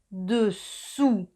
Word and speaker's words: dessous: Dessus es el sonido U. Y os recuerdo que para hacer un U empezamos pronunciando una I y luego ponemos los labios en círculo. I, U, dessus y dessous. U es el sonido U como la U española, dessous.